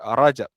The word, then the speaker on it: Rajab: Bulan Rajab bahasa Melayu kita sebut sebagai Rejab lah. Bahasa Arab kita sebut Rajab kan.